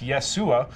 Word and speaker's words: Yeshua: That's not how it's pronounced, actually. It's Yeshua.